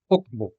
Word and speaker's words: okbo: As you can see, okbo has 2 syllables, ok and bo, okbo.